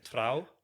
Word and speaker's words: Trouw: Yeah, and so while you're at uni, you get an internship at, I'm going to maybe butcher the Dutch pronunciation, Trouw.